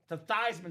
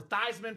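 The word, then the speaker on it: Theismann: So they suggested the PR staff, "Hey Joe, let's change the pronunciation of your last name." They said, "Let's change it from the toyman so we can go for Thyman for the Heisman."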